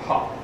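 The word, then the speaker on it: ה: Then Hey is the next one. That's the letter, pronounced like ha.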